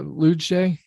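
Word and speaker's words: Luetge: he lucas lewitt uh lujay l-u-e-t-g-e it's like a soft g i guess uh brady singer who's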